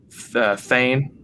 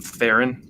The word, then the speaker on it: Thane: of the lead characters, I said his name wrong the entire time. Thane, right? This is his main character's name? Thane Carell, yeah. Yeah, for some reason I called him Theron the entire time.